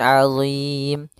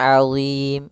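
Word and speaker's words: عَظِيمٌ: Ya, di sini ketemu ain. Azim. Maka di sini pada lafal azim, di sini ada huruf mad dan sebelumnya maaf di akhir kalimat ada mim yang disukunkan disebabkan sukun arid. Maka kita namakan dengan mad arid lisukun. Panjangnya yaitu boleh 2 harokat, boleh 4 harokat dan boleh 6 harokat.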